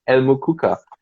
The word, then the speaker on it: El Mukuka: How did you come up with El Mukuka?